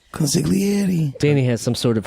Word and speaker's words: consigliere: Yeah, but you don't have to say the G. Consigliere.